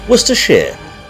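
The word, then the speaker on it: Worcestershire: Worcester sh though it's not like we actually pronounce it like that either wor Shear that's what we call it wor Shear wor Shear Source right it's settled carrying on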